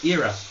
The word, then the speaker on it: era: new era of WWE or era I've been told is pronounced because I can't say error right apparently I have error I like Zelda so